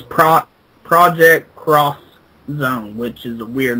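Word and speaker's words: Project X Zone: Well, um the um the game is for the 3DS and it is titled Project Xone and the X actually is pronounced cross. So, it's pro project cross zone, which is a weird name.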